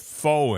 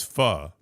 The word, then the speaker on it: faux: have felt really stupid had I gone in there and ordered something with foe in it only to find out it's fu.